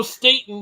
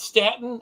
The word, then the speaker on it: Staton: people that I've mispronounced it's Joe Staton not Statin I never knew that